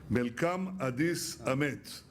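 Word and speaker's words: መልካም አዲስ ዓመት: Melkam Adis Amet.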